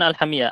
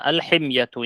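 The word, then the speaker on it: الحمية: Alhamiyatu bukan alhamiyah, alhimyatu ya. Salah itu.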